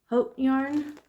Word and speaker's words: haute: So I ordered from Haute Knit Yarn. I'll put it on the screen. I know. It's haute couture is how you say it in French.